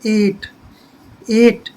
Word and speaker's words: eight: जैसे यहाँ पर है EIGHT, तो यहाँ पर GH को हम नहीं बोलेंगे। जैसे इसको EIGHT, एगट, एगट नहीं पढ़ेंगे इसको हम। इस यहाँ पर जो है GH साइलेंट रहेगा, इसको पढ़ेंगे 8।